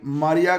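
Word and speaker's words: Mriya: इसको AN-225 मरिया भी कहते हैं, मारिया भी कहते हैं, मरिया भी कहते हैं। तो जो कुछ आपको आसान लगे, या MRIY, ये इसकी स्पेलिंग है।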